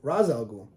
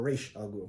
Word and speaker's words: Ra's al Ghul: And was raised by basically her and Ra's al Ghul, or Raish al Ghul, however you want to pronounce it.